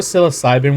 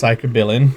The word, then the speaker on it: psilocybin: I always thought psilocybin was actually pronounced psychobilin.